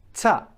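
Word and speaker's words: تاء: you say at, t, if you just keep on saying this sound, ta, you can already understand what's going on. So let's picture that these are your incisors, this is your tongue, and it's, so this is the outside of the incisors, where we can see when you smile, okay? From the inside, you're looking, and it's just above where the gums are starting. Ta, okay? Ta, right? And the tongue is actually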